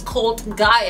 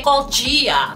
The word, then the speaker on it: Cult Gaia: First of all, I didn't know Cult Gaia was Cult Gaia. I always used to say Cult Gia. God, I've been saying it wrong all this time.